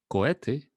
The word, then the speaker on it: cohete: So as you can see, we do not pronounce the H, we just pronounce the E after each one of the letters. So for instance, coherencia or cohete or enhebrar, that H is not pronounced.